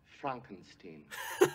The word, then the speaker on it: Frankenstein: your pardon excuse me my name it's pronounced Frankenstein s what broal relationship to